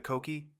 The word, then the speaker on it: coqui: But if you have the coqui... He pronounced the word just as Holland's informant El Gordo had, with 2 syllables.